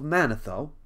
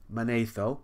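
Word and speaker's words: Manetho: by the name of manatho monaetho some people say my teacher always said mana though but now i'm seeing manatho may be the right way to say it but anyway he lived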